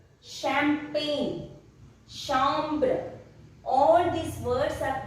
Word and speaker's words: champagne: In French, CH is pronounced as sh. Sh. Chocolat. Champagne.